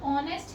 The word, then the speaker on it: honest: लेकिन जब हम इसे pronounce करते हैं then the sound is honest. O की आवाज आती है.